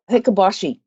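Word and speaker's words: Hikoboshi: altair is known as i need nick for the prince pronunciation here but it's hikabashi and every year on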